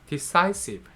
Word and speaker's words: decisive: 자, decisive 해서 second syllable의 두 번째 강세이고요.